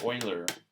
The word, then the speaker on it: Euler: the Swiss mathematician Leonhard whele all right or oiler it's easier just to keep using the same board so Euler spelled like this I'm gonna spell that right Swiss